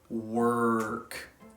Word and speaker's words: work: the exact same so to fix this you really need to emphasize that our sound in the word work so when you make